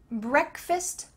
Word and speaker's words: breakfast: Breakfast, lunch, dinner, breakfast. That final A kind of sounds like a short I, breakfast.